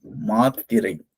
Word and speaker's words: மாத்திரை: சொல்லும்போது பாத்தீங்களா, இங்க ஒரு ஸ்டாப், ஒரு நிறுத்தல் வருது. இத உச்சரிக்கும் போது எதுவுமே இல்ல. மாளிகை. இங்க ஒரு இத்து இருக்கிறதுனால இங்க நிறுத்தம் செய்றோம்.